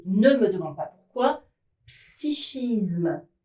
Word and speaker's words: psychisme: me demande pas pourquoi, psychisme et psychique ne prend pas la sonorité que, on retrouve le che.